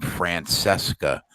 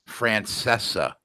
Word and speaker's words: Francesa: I mean, the fact that you just pronounced his name Francesca makes me want to punch you in the face. What's his name? Francesca? Francesa. Francesa? Yes.